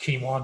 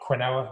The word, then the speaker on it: quinoa: a problem um lentils quinoa that's pronounced quinoa not quinoa as i heard someone say the other day um endemoline beans navy